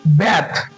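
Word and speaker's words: bathe: तो बी ए टी एच ई ये verb है ये इसको इसका उच्चारण करेंगे हम लोग बैथ बैथ का मतलब होता है स्नान करना बैड और वो होता है बाथ इसका अगर वर्ब टू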